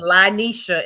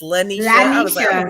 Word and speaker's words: Lyneshad: Although you be calling me Lyneshad and it's Lyneshad.